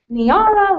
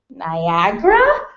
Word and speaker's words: Niara: of my name tags niara looks like niera aaron irony area near and sometimes drip slowly and uncertainly out of mouths like niagara as if i've misspelled my own name without a g when i tell them